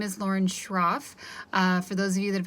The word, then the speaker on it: Schroff: So my full name is Lauren Schroff. For those of you that have had me before, it's a tricky pronunciation for that last name. You just don't say the C. So just SH.